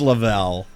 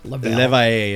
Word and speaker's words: Leveille: You're everyone says Leveille, but Leveille is the French way to pronounce it.